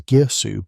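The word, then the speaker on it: Girsu: facilities in a city whose name we pronounce as Gearsu, but whose inhabitants probably said something slightly different, a sound lost to the erosion of time.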